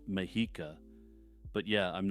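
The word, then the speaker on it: Mexica: tala Taneka Chala and mexa as I'm editing this I realize that the last one is properly pronounced mahika but yeah I'm not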